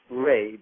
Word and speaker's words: Re: For our last name is Re, or Ray, pronounced Ray, but spelled R-E.